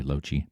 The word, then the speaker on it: Lochi: That's how you pronounce my name, by the way, lochie.